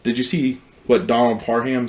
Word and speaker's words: Parham: you see what donald parham said no that people are asking how do you say his name he tweeted out it's par ham ham like he's going ham on this defense okay um he could